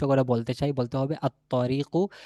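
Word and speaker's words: الطريق: বলতে চাই বলতে হবে আতরিকু লামের উচ্চারণ নাই তারপর দেখেন জ হচ্ছে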